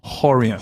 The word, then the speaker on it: Rorion: Sorry, Rorion was in Brazil, we pronounce it Horion.